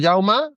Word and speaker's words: Jaume: Sí, bueno, se escribe Jaume, pero en catalán se pronuncia Jauma, pero bueno, mucha gente me dice Jaume y no pasa nada. Mi familia catalana ahora mismo tiene que estar diciendo. No pasa nada. De hecho, en muchas regiones de Cataluña se pronuncia con la E, o sea, no pasa nada.